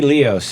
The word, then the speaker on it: Leos: so let's introduce cindy cindy leos is how you say your name right sure cindy leo cindy leos you say tomato i